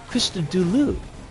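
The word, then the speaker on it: Christodoulou: I looked up in interviews with him, and he pronounces his name with only U sounds. Krista Dulu.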